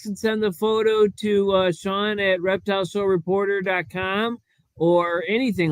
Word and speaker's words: Sean: Geraldine, could you please send my poor co-host a picture to Sean, SEAN. It's spelled scene at Like Reptile. Sean Connery, Bill. Just like Sean Connery.